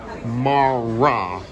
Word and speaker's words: Mara: If you pronounce it correct, Mara. That's what you have to pronounce it.